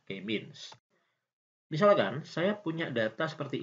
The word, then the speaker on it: K-means: Jadi K-means gitu ya, bacanya K-means.